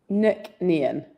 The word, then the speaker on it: Nc'nean: Proper pronunciation. How do you say it? Nook nan nickn.